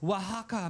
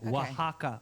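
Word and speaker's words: Oaxaca: In the serene hills of Wajaka, Mexico. They spell it o Ax a ca. Wajaka.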